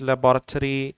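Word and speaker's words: laboratory: स्केड्यूल और शेड्यूल, management, leadership, questionnaire, statistic, percentage, लेबोरेटरी, school, university and college. तो ये जो वर्ड है लेबोरेटरी, ये नॉर्थ अमेरिका में 3 सिलेबल से बोला जाता है, लैब्राटोरी।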